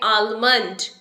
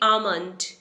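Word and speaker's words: almond: that B pronounce रंग इसे हम बोलते हैं आलमंड पर यह आलमंड नहीं है इसे हम बोलेंगे आमंड आमंड एल is silent आमंड अगर हमें बाहर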